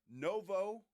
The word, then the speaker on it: Novo: Novo Brewery.